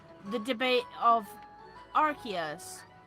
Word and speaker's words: Arceus: like the debate of Arceus Arceus is Arc as in a Arc not us as in an ass like a donkey or a bomb I'm